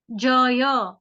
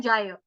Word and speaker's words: जय: हिंदी में हम कैसे कहते हैं, जाय, हिंदी में कहते हैं जाय, संस्कृत में हमको पूरा बोलना है, जय।